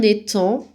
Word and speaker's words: étang: D'un étang, alors là aussi, attention, lettre muette, à la fin d'étang, il faut le retenir, le mot, comme il s'écrit.